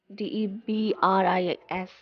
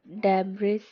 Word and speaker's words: debris: Now, one of the biggest error in pronunciation is people pronouncing the sound as with this word, which is where it goes wrong. It is not debris, it is debris. Because we put the S sound in the silent mode here and it becomes debris.